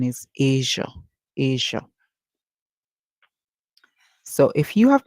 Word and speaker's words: Asia: sound and not a also in Asia remember it is the SI making the J sound and not s and not Zed H all right be very